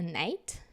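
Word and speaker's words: knight: would say that a night so night and each time my student says C night I'm like no it's not C we don't pronounce c it's just n so this is when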